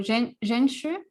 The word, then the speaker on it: Zhenshu: So Zhenshu, that's how you are pronounced correctly.